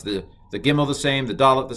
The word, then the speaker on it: Gimel: I'm going to pronounce this as G, and I'm going to pronounce this one as G.